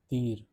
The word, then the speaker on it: dire: Dir means to say or tell.